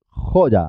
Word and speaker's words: joya: ji con la garganta cómo se pronuncia la palabra siguiente joya así es joya ojo y la y como una de consonante jo ya porque empieza a sílaba jo ya y la última web